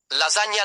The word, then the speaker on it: lasagna: The consonant combination gn produces a sound similar to the ny in the English word canyon. This sound is very common in Italian. Examples. Lasagna, lasagna.